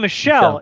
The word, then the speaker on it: Michel: It's Michelle, you uncultured swine. I'm really bad at pronunciation.